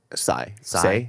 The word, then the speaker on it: Tsay: I'm gonna butcher the last name, but it was Brandon, and the last name was spelled Tsay. Sai. Sai.